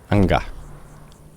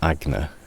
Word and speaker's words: Anga: That is Agna, or however you pronounce it, isn't it? Anga. Not Agna, you dyslexic old cretin.